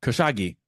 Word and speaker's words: Kashigi: Oh, Kashagi. Right? Kashagi. Thank you. Kashagi.